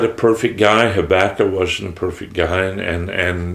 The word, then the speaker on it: Habakkuk: the 2nd chapter, and I do know that it can be pronounced Habakkuk. You pronounce it whichever way you want. I was raised with it being Habakkuk, so I'm going to call it Habakkuk.